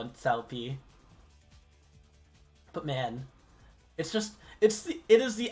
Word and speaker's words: Cao Pi: Everyone's made the cow pee joke.